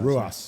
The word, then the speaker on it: Ruas: How do you pronounce that? Ruas.